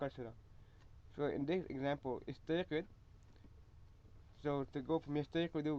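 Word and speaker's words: اِسْتَيْقِظْ: And we pronounce istayqid instead of ustayqid because the second last letter, the qaf, has a qasr on it. So istayqid.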